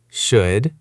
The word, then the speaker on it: should: Can you say these words correctly? Could, should, and would. Loud. Remember, no L sound.